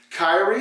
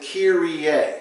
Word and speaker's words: Kyrie: see in worship Kyrie Kyrie sounds close that's more of an NBA player name we actually pronounce it Kier you mean the fancy